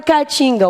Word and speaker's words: Caatinga: palavra Caatinga O opa lembra aí cada vogal numa sílaba o que que eu faço a TIM vamos lembrar a gente aqui é um tipo de vegetação tá não é essa Caatinga com a sua não em essa daqui um ar só Caatinga essa tipo de vegetação tipo de área com vegetação tal tá Caatinga bom então vocês viram que as vogais Obrigatoriamente ficam em sílabas separadas da palavra Álcool que